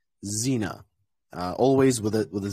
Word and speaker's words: Xena: never pronounced as um it's never pronounced as KS or never pronounced as X it's always pronounced as Z so for example xenophobia Xena always with it with